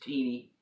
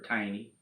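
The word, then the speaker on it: Tini: Tina, it's Teeny. I mean, obviously, T-I-N-I, Teeny, or Tiny. No, Teeny.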